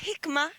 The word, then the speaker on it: Hikma: llevada adelante por la compañía Hikma. ¿La pronuncié bien? Correctísimo, correctísimo. Aprovecho a saludar a Marcelo en el piso también y a toda la familia que nos ve. Gracias por permitirnos este espacio. Sí, Hikma, lo dijiste bien.